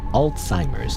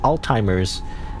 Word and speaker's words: Alzheimer's: Um, by the way, how do you pronounce al Alzheimer's? Is it Alzheimer's? Cuz when people say Alzheimer's, I hear Well, I mean, I'm saying right now, but you know, Alzheimer's like all timers, you know, but then